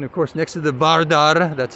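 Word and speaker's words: Vardar: building there and of course next to the bardar that's how you say correctly pronounced correctly in a in Macedonia and I'm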